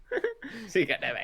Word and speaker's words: Cinco de Mayo: Cinco de Mayo. I say Mayo because that's literally Freaking what it is. Like it's spelled.